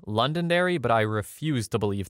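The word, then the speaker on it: Londonderry: be able to guess alas Google told me London Dairy so here we are story two I made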